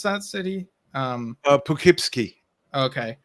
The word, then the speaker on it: Poughkeepsie: Also seen ABWH in, how do you pronounce that city? Poughkeepsie. Okay. Poughkeepsie.